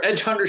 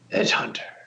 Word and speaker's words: Edge Hunter: you said it wrong you said it wrong it's EDG Hunter EDG Hunter there you go that's better that's well you know